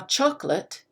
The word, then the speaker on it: chocolate: the stress chocolate now chocolate delicious something i do appreciate the emphasis the stress is on chocolate the first syllable listen to what happens to those four letters late chocolate really quite different so again i'm not